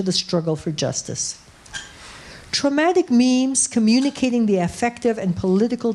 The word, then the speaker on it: meme: Evolutionary biologist Richard Dawkins coined meme in his 1976 book, The Selfish Meme, to rhyme with genes, accentuating what he sees as the biological mechanism vital in the reproduction of cultural codes.